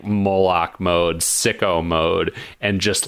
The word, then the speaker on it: Moloch: You have been mispronouncing his name. Moloch. It is Moloch.